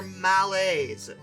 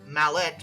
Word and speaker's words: Mallet: And this source said, they're Malays, which I mispronounced as mallet because I'm an American and there's a T there.